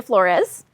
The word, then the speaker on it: Flores: So today, Victoria Flores. Am I pronouncing your last name correctly? Yeah, you got it. You got it. Flores because I never know where to put the emphasis.